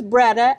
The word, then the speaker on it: BREADA: Okay, first of all, what's BREDA? Am I saying it correctly? And what is your new role with this fabulous organization? Good morning, Mary. So you did get it right.